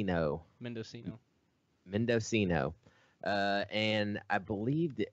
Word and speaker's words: Mendocino: for men man it's a hard name to pronounce man Cena or something mindo C no Mendocino Mendocino and I believe the other county is